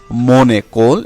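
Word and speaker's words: mon école: তারপরে মনেকোল, এখানে এন এবং এ এর সাথে সন্ধি হয়েছে মনেকোল।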